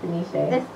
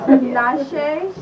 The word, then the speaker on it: Tinashe: think the last song i need help pronouncing her name tanashi tonight i love her i thought it was denisha tinashe she just released the